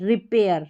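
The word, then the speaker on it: repair: पी को पढ़ा ये रहा और फिर एयर ए आई आर एयर पेयर री और पेयर रिपेयर रिपेयर। इस तरीके से ए आई आर को हमने एयर करके पढ़ा है।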